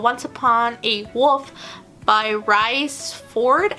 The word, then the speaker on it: Rhys: And then I started on another book called Once Upon a Wolf by Rhys Ford. I think that's how you pronounce it. It's R-H-Y-S, so I think maybe not.